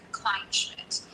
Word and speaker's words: Kleinschmidt: Yeah, it's just Jessica Kleinschmidt. So just Klein and Schmidt pushed together, basically. Kleinschmidt.